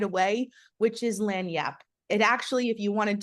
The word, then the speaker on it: lagniappe: right away, which is lagniappe. It actually, if you wanted to Google it, is spelled login app a like that is what it looks like, but it is lagniappe.